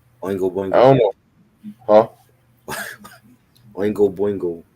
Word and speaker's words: Oingo Boingo: Oingo Boingo. That's how you say it. That's how you say Yeah, Ongo Bon Oingo Boingo. Ongo Boingo.